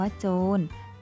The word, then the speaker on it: โจร: ผู้ ร้าย นะ คะ คำ ว่า โจร ก็ เช่น เดียว กัน ค่ะ เวลา สะกด จะ สะกด ด้วย ตัว เรือ นะ คะ แต่ เวลา อ่าน จะ อ่าน ออก เสียง นอ หนู ค่ะ ทำ นี้ ก็ ไม่ ตรง ตาม มาตรา ตัว สะกด นะ คะ เดี๋ยว